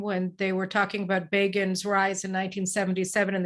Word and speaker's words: Begin: they were talking about Begin's rise in 1977, and they said Begin rhymes with Fagin.